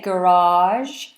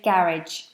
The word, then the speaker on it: garage: Americans say garage, and British say garage. You can choose which one you want to say. We say garage. Americans garage. Garage.